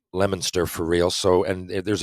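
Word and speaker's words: Leominster: moved to you moved to lemonster right spelled Leo Minster if you if you were to pronounce it out but it's pronounced lemonster for real so and there's a big hockey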